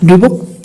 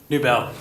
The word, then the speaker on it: Newbell: Newell? Did I say it right? Newbell. Close though.